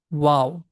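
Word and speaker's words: واو: As we say wow, almost the same sound we have, Waw.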